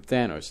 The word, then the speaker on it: Thanos: Thanos. Thank you, man. Give it up for you. Gold star. I know it because it rhymes with Manos.